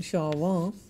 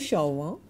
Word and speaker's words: Chauvin: I am giving you the French pronunciation, Chauvin. This is Chauvin, Chauvin.